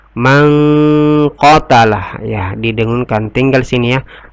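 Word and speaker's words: مَنْ قَتَلَ: Mangqatalah, ini hukum bacanya adalah ikhfa. Kenapa ikhfa? Karena nun sukun ketemu dengan qa. Cara membacanya dengan berdengun. Mangqatalah, ya, didengunkan.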